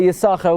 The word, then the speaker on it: Yissachar: This explains why one sin we pronounce, one sin we don't pronounce.